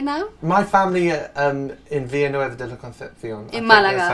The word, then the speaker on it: Villanueva de la Concepción: My family in Villanueva de la Concepción.